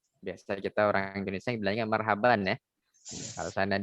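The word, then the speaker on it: مرحبا: belajar Marhaban deh Sana dibilang Marhaban itu dari segi pengucapan yang sesuai dengan kaidah bahasa Arab sebetulnya kurang tepat Hai yang mungkin ya yang tepat adalah Marhaba bukan Marhaban kecuali diikuti oleh kata yang lain atau disambung dengan kalimat setelahnya baik kita lanjut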